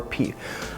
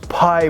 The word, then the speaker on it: Pi: be Givenchy Pi or P. However you pronounce it is fine. I get a lot of people commenting on my my actual review. It's Pi, bro, not P, like, you know, whatever.